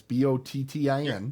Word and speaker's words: Bottin: Rob Bottin, and I think that's how I've heard it pronounced, but it's Bottin.